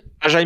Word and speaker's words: Ajae: Comment tu dis, toi? AJ, non? Ah oui, AJ, ouais. Ah, bah après, il est belge, donc je sais Ah pas, oui, moi, les comment Belges, dire. ils prononcent Ajae, t'as raison. Pour le podcast, pour le podcast, on va prononcer Ajae.